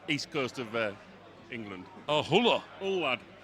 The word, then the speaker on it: Hull: Oh, Huller. Hull lad. Speak Hull. Don't pronounce the H.